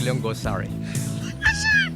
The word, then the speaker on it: Liongosari: Edy Liongosari. I wasn't even close. I was panicking there. You'll get the first syllable.